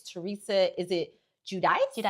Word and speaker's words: Giudice: Um we have um and I you have to correct my pronunciation. I know it's Teresa. Is it Judice? Judice.